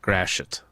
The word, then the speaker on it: Gratiot: That is exactly how you say it, Gratiot.